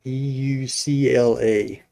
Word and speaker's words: Eucla: I don't know how to pronounce that in Australia, but it's Eucla.